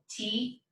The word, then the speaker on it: toque: So our affirmative command, formal usted command for the verb tocar would be pronounced toque, and then we remember